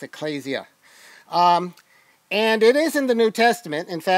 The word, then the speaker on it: Ecclesia: Greek word Ecclesia okay sometimes we say Ecclesia but it's actually an ADA for those of you who know Greek it's an ADA so it has a long a sound there so it's Ecclesia um and it is